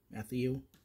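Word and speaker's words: Mathieu: that uh Tyran uh Matthew Matthew that's how you say it you got mares Brown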